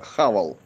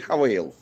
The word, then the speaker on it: Haval: и китайские Haval f7 Ну тот который по-русски читается хавал вот типа раньше пипл хавал А теперь хавел деградация такая перекрёсток Строителей Уральская не